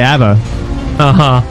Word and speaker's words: Abaddon: things, but how the hell did you just pronounce Abaddon? The Abba? Yeah. I usually just say Abba.